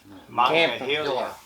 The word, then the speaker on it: Monongahela: Monongahela. How do you say that? Monongahela.